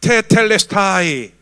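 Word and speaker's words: τετέλεσται: 테텔레스타이. 와, 여러분 그리스 사람 같아요. 헬라 사람 같아요. 거의 원어 발음이에요.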